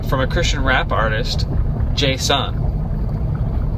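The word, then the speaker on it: J-Son: Tonight, we're having a concert during our youth group from a Christian rap artist, J-Sun. I believe I'm pronouncing that correctly. J-S-O-N. J-Sun.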